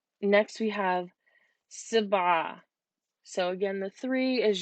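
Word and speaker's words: سبعة: but it's the number seven whoops seven so Sabbagh next we have the number eight what is an upside-down V which is pronounced the mom yeah so it looks like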